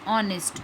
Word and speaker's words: honest: An R, an honest, an air beginning with a vowel sound, as the initial consonant H is not pronounced.